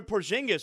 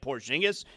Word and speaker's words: Porzingis: And that's why Kaminga was sent to Atlanta for a Porzingis with I I I mean Porzingis.